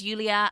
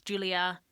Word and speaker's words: Yulia: It's not even that he constantly mispronounces Yulia as Julia.